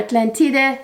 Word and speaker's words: Atlantide: choice is titiana terenci atlantide or atlantide it's actually how the italians pronounce it it's an italian fragrance